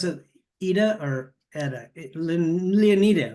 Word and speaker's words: Leonida: that's good Leona I I leonita do you pronounce it AA or Eda leonita right leonita leonita okay uh leonita so this this way